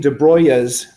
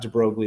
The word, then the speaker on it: de Broglie: wavelength is and using dubrow ayahs that's how you actually pronounce this it's not de Broglie astir bro yeah I